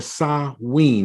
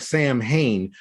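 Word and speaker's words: Samhain: something that's called ta win or saw ween it looks like Sam Hayne but it's actually a Gaelic or Irish term starting at sundown on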